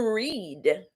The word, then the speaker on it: read: The verb is to read. And Blandy, what you posted is the correct pronunciation of the past tense. It's pronounced like the color red, but the spelling is READ.